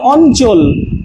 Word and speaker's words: অঞ্চল: আর এটাও গুলিয়ে ফেলে অনেকে, এখানে হবে আগে ইও, ইওর জন্য নয়ের মতো উচ্চারণ হবে এবং পরে চ। ঠিক আছে, যেমন অঞ্চল, অঞ্চল, এই যে দেখেন নয়ের মতো চলে আসছে, ইওর মতো উচ্চারণ হচ্ছে।